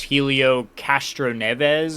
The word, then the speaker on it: Helio Castroneves: This is the first time since 01 and 02 with, I believe it's Helio Castroneves is how you pronounce the name.